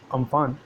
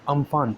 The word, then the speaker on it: Amphan: हमारा पहला टॉपिक होगा वो है चक्रवाती तूफान अम्फान से उड़ीसा व पश्चिम बंगाल में जो भारी